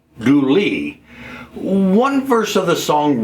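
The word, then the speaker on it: Dula: County, North Carolina by a man named Tom Doula whose name was actually pronounced Douly.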